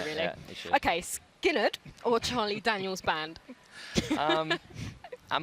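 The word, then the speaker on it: Skynyrd: It's Skinnerd. Yeah. Skinnerd. Leonard Skinnerd, yeah. So it's not Skinny Ud.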